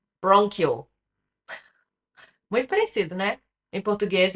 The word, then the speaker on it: bronchial: Now, let's see how to pronounce both of them. So, brônquio. Então, o grande é bronchial.